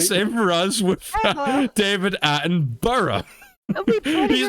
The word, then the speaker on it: Attenborough: right it's his name i know an accent thing can make people say borrow or edinboro but it's his name attenborough attenborough say it attenborough i've